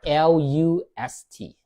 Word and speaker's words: lust: It's not l a s t but l u s t.